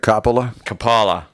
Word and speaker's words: Coppola: Isn't that Coppola?